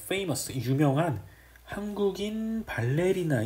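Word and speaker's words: ballet: 장면은 발레와 자발 대의에 t 가 들어가 있네요 발레 이렇게 발음해야 되는거 아니야 근데 발레의 프랑스 원과 뭐 어디 그렇기 때문에 요 t 쪽을 발음을 압니다 그래서 발레 라고 하시면 되요 자 발레 랑 사랑에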